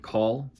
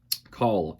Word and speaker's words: Call: Gus for short, and Call. In my mind, when I was reading the book, I just called him Cal, but I know it's pronounced Call.